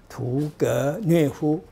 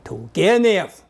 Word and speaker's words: 屠格涅夫: 不发音，屠格涅夫，重音在格子上面，屠格涅夫。